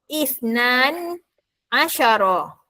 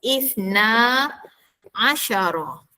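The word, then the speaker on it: اثنا عشر: Kalau awak bunyi isnani asyara atau isnan asyara salah. Ha okey salah. Yang betul. Nombor 12 ialah isna asara 12.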